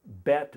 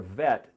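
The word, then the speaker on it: ב: Aleph, Bet, or Vet, depending on whether there's a dot in the middle of that letter, which is called a dagesh, would be pronounced either with a B or a V.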